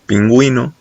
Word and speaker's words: pingüino: Las diéresis son para palabras como pingüino, que como se escribe se puede ver que en realidad debería decir penguino, pero gracias a la diéresis estamos haciendo énfasis en la U, de que la U pues, es, totalmente independiente y por eso se escucha.